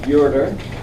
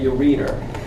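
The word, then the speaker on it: ureter: a pair of ERS remember the word is pronounced urer in a clinical setting you don't ever want to say you reader people may not say anything but they'll think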